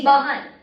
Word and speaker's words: बहन: So it's not behan, it's जी। bahan.